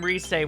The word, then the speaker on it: Rise: what about you rise why is your name resay when it's spelt like a rise rise up pop quiz